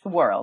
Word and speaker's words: Worel: have the honor of having here today, Mindy Worrell. And she, did I pronounce it well? Mindy? Yes, Worrell.